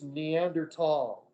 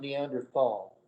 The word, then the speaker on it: Neanderthal: comment it's uranus it's neanderthal in germany there is no th sound it's not neanderthal and they've discovered the